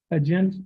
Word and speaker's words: Hudgens: Your last name is pronounced Huggins or Hudgens? Hudgens? Yes, Okay.